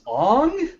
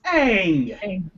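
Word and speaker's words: Aang: he's white his name's on no it's Ang Ang long a they already specified how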